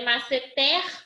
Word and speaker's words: masseter: É masseter ou é masseter? Paulo. É masseter ou é masseter? Tanto faz pra mim. Não. Masseter, eu tenho som aberto com acento agudo.